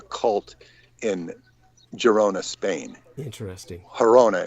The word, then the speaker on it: Girona: in girona spain interesting hirona is the better way to pronounce it but yeah people know it as girona which is in barcelona and